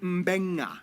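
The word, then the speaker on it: Beqa: B makes the mb sound.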